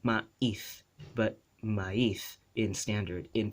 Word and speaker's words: maíz: Actually, maíz, the way it's pronounced maíz is in local languages. But in Philippine Spanish, it's maíz, right? Maíz. And in standard Spanish, maíz, maíz, right? Maíz. It's like glided together. There's no glottal stop.